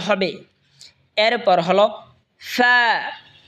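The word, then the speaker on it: فاء: এরপর হলো ফা, ফা, ফা জিহ্বার ঠোঁটের পেট সামনের উপরে দুই দাঁতের আগার সঙ্গে লাগে উচ্চারণ হবে ফা, ফা।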